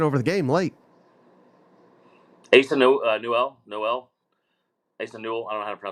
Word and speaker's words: Newell: Asa Noel. Asa Newell. I don't know how to pronounce the last name. It's Sure. Newell.